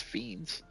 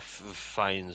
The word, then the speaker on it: Fiennes: It's Ralph Fiennes, or Raph. I don't know how are you supposed to pronounce this? Ralph Fiennes? I always thought it was Fiends. He says it like Raph Fiennes or something like that.